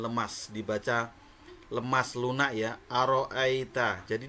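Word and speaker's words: أرأيت: di depan di ayat satunya ya di bacaan Aro Aita di situ ada Mad layyin di situ dijelaskan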